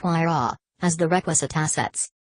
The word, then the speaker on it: Huayra: splash in but the whare pronounced why raw as the requisite assets